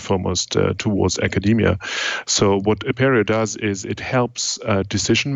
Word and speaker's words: Apereo: I think Apereo is the right way to pronounce it.